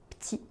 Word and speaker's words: p'tit: Par exemple, le mot petit est souvent prononcé petit. Un petit peu, un petit peu.